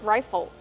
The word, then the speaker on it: rifle: how do we pronounce rifle rifle use a long I like I and like Ry rifle plus a short sound and the dark l o o like in table in Bottle rifle these are rifles did